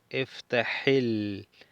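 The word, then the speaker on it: اِفْتَحِ: Aquí ponemos una i en el imperativo y decimos iftahil.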